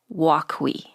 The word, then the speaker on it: Wokwi: Okay, but we have asked you here to talk about Wokwi. Is that how you say it? You pronounce it right.